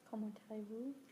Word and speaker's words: comment allez-vous: Comment allez-vous?